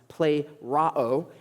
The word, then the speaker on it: plerao: It's a word that is pronounced plerao, and it means to fill fully or filled to the top, filled to the brim.